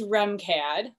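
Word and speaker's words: RMCAD: college of art and design also known as remcad pronounced r-e-m-c-a-d so these slides are filled with lots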